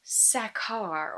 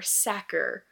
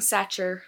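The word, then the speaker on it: Sachar: I believe it is pronounced Sackar or Sacker. I've been saying Satcher since 5th grade.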